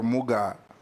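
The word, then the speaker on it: Mugaa: How do you pronounce the last name? Muga or Muga?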